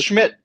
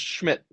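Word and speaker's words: Szmyt: Pronounced Schmidt. According to Google, it is pronounced Schmidt.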